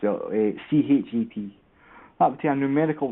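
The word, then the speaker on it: ח: That would be the hate, or the shet. It's pronounced CHET.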